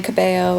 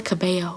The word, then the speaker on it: Cabello: think it's kamiya yeah i'm pretty sure the l is silent yeah camilla cabello i know that the l's are silent camilla camilla cabello i